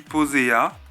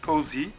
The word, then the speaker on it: Posea: à posé Harif alors moi je dis poséa puisque bah voilà j'ai envie de dire poséa mais dans le film elle appelle posé je pense que c'est parce qu'en anglais son prénom doit se prononcer Posy et du coup je